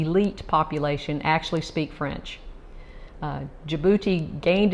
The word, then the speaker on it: Djibouti: up how i had to google how to pronounce it right so djibouti it's located on the northeast coast of the